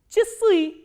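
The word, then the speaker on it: часы: And here you have to remember, just memorize it, that this a sound is pronounced as e, not as a. So, how will you pronounce this word? Chisui, chisui.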